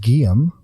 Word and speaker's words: Guillaume: This next one comes from, I believe it's pronounced Guillaume. Uh-huh. It's French, in case you Guillaume. guys are curious. No, it's Guillaume.